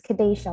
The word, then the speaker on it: Kedasha: pronouncing your name is kadesha yes it's kadesha long a okay great good morning